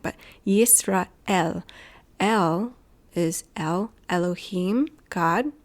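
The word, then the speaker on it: ישראל: Yisrael is how you would pronounce it in Hebrew. I'm exaggerating it, but Yisrael.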